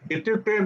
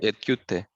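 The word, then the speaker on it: इत्युक्ते: Etyute. Ityukte. Iti ukte.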